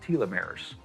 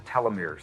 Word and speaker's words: telomeres: portions of DNA that are called telomeres, or telomeres. They're pronounced both ways.